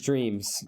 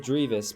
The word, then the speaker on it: Dreams: It was Dreams, and I said Drevis because that's technically what the username is, and people were like, "Oh, T90 doesn't know who Dreams is."